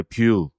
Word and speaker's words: Vue: 이렇게 쓰죠 발음은 이제 뷰 그래서 화면 이제 화면 그릴 때 뷰 이런 얘기를 할 때 그 그대로 써서 발음은 똑같이 하지만 이제 스펠링은 다른 이제 외국에서 많이 하는